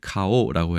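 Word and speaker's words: 花王: 있는데 화왕이라고 되어 있고 그 발음을 가오라고 해서 얼굴 안자 얼굴이란 뜻과 동음이어로 해서 재미있게 표현한 기업이 있습니다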